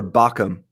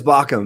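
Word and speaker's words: Baucham: um on YouTube uh is it v v Bouch or bacham you know I don't remember how to pronounce it and and I think it's pronounced B- a u c h m but I'm not quite sure um I I think it's bacham but I could be wrong about that um but it but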